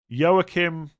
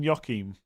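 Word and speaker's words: Joachim: Yookim. Yim. So it's not even Yokim.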